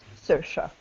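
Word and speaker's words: Saoirse: a o i r s e and it's pronounced suha so yeah yeah I think there's an actress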